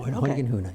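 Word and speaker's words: Hoyningen-Huene: working with the negatives of Edward Steichen, George Hoyningen Hune, is that how you say it? Hoyningen Hune, yeah.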